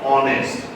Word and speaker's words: honest: But if you listen carefully, you are not saying honest, ha. H is not being pronounced. You're saying honest.